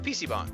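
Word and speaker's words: PC bang: PC bomb yeah okay a PC bomb pronounced with a long a like bong we're at one right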